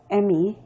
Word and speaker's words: Emi: yeah i go by my last name it's emmy yeah and your first name is uh